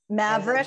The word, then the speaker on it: Maverick: Am I pronouncing that right, Amy? Maveron. Yeah, think and about Maverick. Maverick.